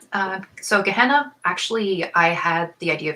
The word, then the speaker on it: Gehenna: Am I pronouncing it correctly? Gehenna? Yeah. So Gehenna, actually, I had the idea for Gehenna at the same time as cadaverific.